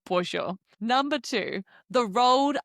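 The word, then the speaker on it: pollo: No more saying bolo when you are ordering your tacos polo. No, it's tacos pojo.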